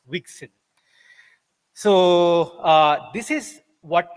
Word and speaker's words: WGSL: it uses is uh wgsl pronounced as wixen so uh this is